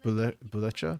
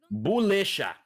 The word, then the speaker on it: Bulecha: And Bulecha? Buleka? I don't know how to pronounce that. Bulisha. Bulisha. Okay, I was wrong both ways.